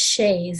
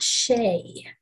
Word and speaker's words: Shays: his last name is shays s-h-a-y-s not shea so that that is spelled correctly with the apostrophe i didn't just put the apostrophe in the wrong place because his last name was shays i always thought his